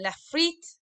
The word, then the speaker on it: frites: Les frites. Your turn. Lovely. Okay, les frites. So we don't pronounce that r sound. It's almost rolls on your tongue a little bit.